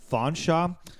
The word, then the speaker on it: Featherstonehaugh: It's pronounced Fanshawe, but it should be pronounced Featherstonehaugh.